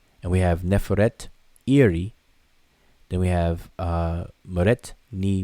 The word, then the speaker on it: Nefertari: The Osiris, or Wasir, the great queen, lady of the two lands, Neferet Iri Meret Nimut, which is the name Nefertari, Neferet Iri, but people pronounce it fast and say Nefertari.